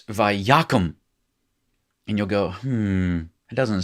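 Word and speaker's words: וַיָּקָם: So you'll hear me say, now listen, it's vayakum.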